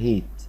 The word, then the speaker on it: hate: هي اسمها الإيد أخيرة سايلنت، والإيه اللي ورا وراها إيه بتنتي إيه، فالكلمة اسمها hate.